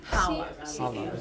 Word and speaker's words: Challah: This is called Challah. Yeah, it's C-H-A-L-E. Yeah, but you don't pronounce the C.